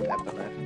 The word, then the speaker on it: Epona: it like that, and it sounds like Eponine, and they come from the same root word of the, you know, Norse or whatever word.